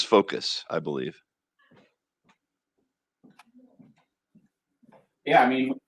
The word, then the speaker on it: Fokoos: i was butchering that i was saying focus or focus i wasn't quite sure how to pronounce it but it is focus i believe yeah i